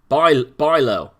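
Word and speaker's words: Bijlow: at right now uh the ij is almost as impossible to pronounce as a non-native speaker fantastic um never stood a chance then but try to pronounce it like a y to come a little closer so baijlo by bilo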